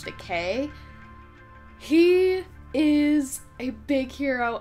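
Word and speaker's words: Takei: i it's very confusing i know a lot of people call him george takai but i'm pretty sure it's actually george decay he is a big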